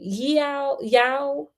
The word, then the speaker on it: Yao: The young man in this story was Pemba, a member of the Yao tribe.